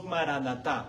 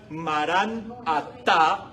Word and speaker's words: maranata: expresión maranata maranata maranata pero no decían maran atá o maran espacio atá lo decían juntito maranata maranata está escrito